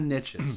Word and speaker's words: niche: And well, because you Americans call, I'm Canadian, if anybody's listening, you Americans call it, there's riches in the niches. Now, we pronounce it niche, so it doesn't rhyme.